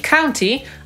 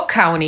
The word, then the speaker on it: county: I podobnie jest ze słowem, które tłumaczymy jako hrabstwo, a jest odpowiednikiem naszego powiatu albo gminy, czyli county albo county.